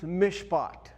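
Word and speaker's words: משפט: But I put in parentheses here because this letter which is in Hebrew a mem when you add that letter to the word it's pronounced mishpot.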